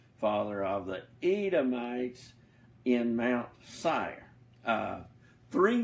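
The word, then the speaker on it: Seir: mount sire sei Ark you can pronounce it ser mounts IR is how I normally say it but you can say it the other way or any other way you want to but sire also is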